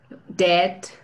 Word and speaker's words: dead: Dead. She's dead. Dead. También, al igual que breath, es una E así cortada, ¿no? Muy firme.